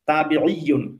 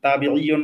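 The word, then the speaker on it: تابعون: এমনি তাবেই মানে হচ্ছে তাবিঈয়ুন, তাবিঈয়ুন মানে একেবারে সহিহ আরবি উচ্চারণ যদি বলি, তাহলে তাবিঈ মানে হচ্ছে যে অনুসারী, মানে অনুগামী বা অনুসারী।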